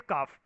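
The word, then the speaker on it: कफ: और तीसरे होते हैं काफ। ए साइलेंट होता है सबके अंदर। वाता, पिता एंड काफा नहीं बोल के इसको आप ऐसे भी बोल सकते हो, वथ, पित्त एंड काफ।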